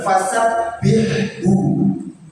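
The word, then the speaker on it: fasabbihu: Kalau kita mengucapkan benar seperti itu, maka artinya benar. Maka bertasbihlah kepada Allah, kepadanya. Tapi ketika nanti salah kita membacanya, ya kan? Salah huruf, salah membaca, itu bisa jadi salah arti.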